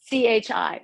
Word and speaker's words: Chi: force the energy okay it's a cheese chi right so it's spelled c-h-i is that correct so it's Chi thank you I appreciate